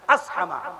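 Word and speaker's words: أصحمة: حبشہ کے بادشاہ کا نام بادشاہ اسہمہ نہیں، سواد حادور، صح نہیں، اصح نہیں، اسحمہ، بادشاہ اسحمہ.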